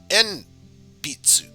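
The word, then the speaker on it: えんぴつ: an interesting word rather than pensaru we have en pitsu and pizzu is the japanese word for pencil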